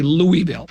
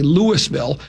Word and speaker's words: Louisville: If you ever hear somebody from that part of the country, they don't go Louisville. Like we say Louisville. I say Louisville, but down there they just go Louisville.